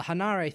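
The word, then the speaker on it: Henare: is towhen RA but the hinari thing that came from just the Japanese pronunciation of Henry so his name is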